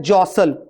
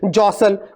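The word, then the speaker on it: jostle: बात करें तो है जसल जेस टी ये टी है तो जरूर लेकिन इसको पढ़ेंगे नहीं क्या पढ़ेंगे जसल जे ओएस टीएल ई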